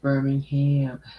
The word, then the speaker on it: Birmingham: friend who lives in birmingham says iran how do you say it birmingham birmingham that's wrong yeah that's wrong well excuse me it's birmingham well my friend told